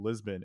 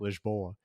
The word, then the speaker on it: Lisboa: to Lisbon in Portugal, or as the locals call it, Lisboa, Oh, as really? we recently learned. Yeah, that's why they Lisbon. spell it with like an A at the end instead of an N.